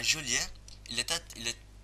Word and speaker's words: Joliet: À Joliet, il est, il est il est illégal de mal prononcer le nom Joliet. Donc en gros, tu es un visiteur, tu vas dans la ville Joliet, et par exemple tu dis Joliette, enfin même moi qui